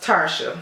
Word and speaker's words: Tarsha: years now so yeah it's pronounced Tarsha so hey Tasha girl oh